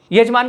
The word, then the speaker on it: यजमान: आप देखना, बहुत लोग योगी को जोगी बोलते हैं, है ना, यजमान को जजमान बोलते हैं, ठीक है।